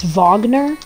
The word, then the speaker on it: Wagner: it okay and then it's spelled wagner but it's wagner brother to um mo